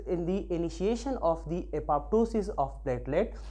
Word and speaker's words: apoptosis: the initiation of the apoptosis of platelet we know that apoptosis some people also pronounce it as a apoptosis so apoptosis or apoptosis